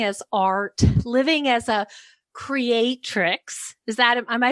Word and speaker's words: creatrix: So you're talking about living as art, living as a creatrix.